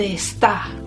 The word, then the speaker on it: está: the accent's on the second part of the word so it wouldn't be like our name esther it'll be almost as if the e at the beginning isn't there donde esta okay an espanol there